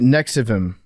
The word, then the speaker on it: NXIVM: All right, so you guys want to watch the documentary about Nexium? Yeah. And we can do the Nexium, or is it Nexium? It's Nexium, but it's spelled with a V.